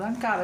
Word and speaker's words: Ankara: Diciamo che la Lube fa un bellissimo risultato in Turchia, ad Ankara, avevamo detto, mi pare che avevo controllato l'accento sulla seconda, ad Ankara, vince 3-1, sì.